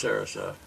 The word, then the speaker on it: Sarasa: Did I pronounce it correctly then? It's Sarasa.